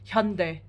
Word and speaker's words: Hyundai: call um the Korean company Hyundai is Hyundai I know it's probably their fault for pronouncing it like that on the advert and stuff but actually it's it should be Hyundai thank you very much